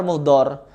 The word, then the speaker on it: Muhdar: Ya Umar Mukdar. Ya Umar Muhdar. Sampai betul itu kalimat pengucapan, tapi ajarannya enggak benar.